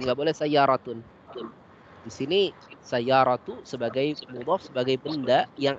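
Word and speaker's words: سَيَّارَةُ: Ya, kemarin ada beberapa yang bacanya sayyaratun, nah ini keliru.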